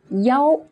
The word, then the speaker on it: 幺: Notice this number one in our dialogue is pronounced as 幺 instead of 一, which is the usual most common way to say the number 1, because the pronunciation of